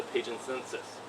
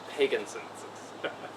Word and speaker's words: Pagenses: history known as the Pagan census yes it's pronounced Pagan census not Pagan sensus trust me I got